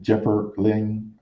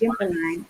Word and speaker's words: Gimperline: Is it Jipper Ling? Go ahead, Jerry. I'm just letting Jerry go ahead and read these questions. It's Gimperline, Gimperline.